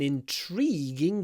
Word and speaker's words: intriguing: an intriguing case intriguing here we have an E before a g it's voiced so we need a lot of Y in it in tree y Ying intriging really emphasize the Y intriguing I am intrigued